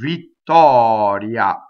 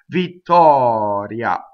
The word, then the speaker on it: Vittoria: So R's that are surrounded by vowels are flipped. So as in this word, Vittoria, ria, okay? Not R, not Vittoria, Vittoria, no, Vittoria. So flipped R.